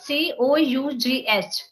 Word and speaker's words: cough: like if I so this c o u g h cuff even I also used to pronunciate it this is cuff but while coming to Bangalore only I came to know that it is not cuff it's cough you you just go